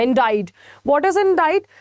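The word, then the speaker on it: indict: है हमारा इसमें जो सी जो है वो साइलेंट राहत है इंडिया what is इन डिड तो यहां पर बेसिकली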